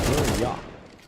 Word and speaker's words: Buria: Burnine is pronounced Buria, by the way, Mr.